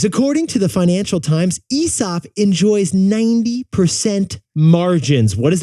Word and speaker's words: Aesop: by the way Jack we should say ESOP I actually think the pronunciation's ESOP really an Australian Yeti pointed